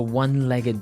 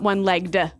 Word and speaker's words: one-legged: leg ah okay and the pronunciation here is important right onelegged not oneel legged no one-legged so you can say